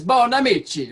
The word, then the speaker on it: Bonamici: mean I was like you can't not say it like an Italian it's Bonamici right yeah yeah I love